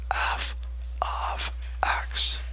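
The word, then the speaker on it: f(x): do you pronounce this that is not f times x it is pronounced f of x please learn to say that correctly f of x equals got it this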